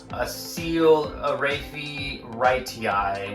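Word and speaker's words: Acoelorrhaphe: hand side I just learned today how to pronounce this a seal Ari RI which is the Everglades Palm which is a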